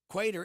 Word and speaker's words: Qatar: Qatar is the only country that starts with letter Q. You can pronounce it Qatar or Qatar.